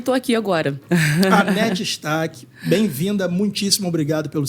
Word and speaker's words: Hannette: E nos Estados Unidos o pessoal me chama de Ranete, por causa do H. Do H. Mas qual é a pronúncia correta? Anete, eu falo Anete.